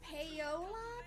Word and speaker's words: Paola: And other people have so many problems pronouncing it. They're like Paula. Paula. It's Paola. Pamela.